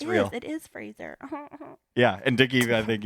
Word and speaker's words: Fraser: like it right like you know the word Razer it rhymes with razor Brendan Fraser has anyone on your